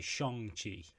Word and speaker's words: Shang-Chi: the line and say shong chi is that the correct pronunciation michael well that's a hard one to answer ben oh because that's how you would pronounce it in chinese hmm but also you